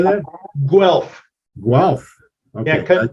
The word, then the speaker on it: Guelph: Guelph. Guelph. Okay. Yeah, convert the U to a W and you got it.